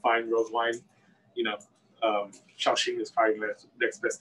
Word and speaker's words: Shaoxing: How do you pronounce Yeah, Shaoxing.